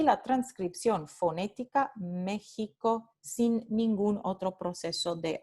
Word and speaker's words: México: Y por último, el ejemplo de este fonema cuando se realiza usando la letra del alfabeto convencional X, como en la palabra México. Entonces tenemos aquí transcripción fonémica